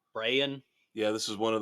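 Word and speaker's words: Brayan: I have to say this right because it's spelled really weird. B R A Y. Brienne Bellow. Brian.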